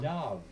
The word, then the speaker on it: dove: A dove. Oh, isn't that a pretty name, Dove? Dove. Can you say Dove, dear? Dove. Dove. Rhymes with love.